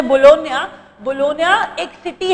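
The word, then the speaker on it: Bologna: Indian, मैंने कहा बच्चों ISSF वर्ल्ड कप ये जो फाइनल है, देखिए आप इसे बोलोना पढ़ेंगे बट इटालियन प्रोनाउंसिएशन है बोलोनिया।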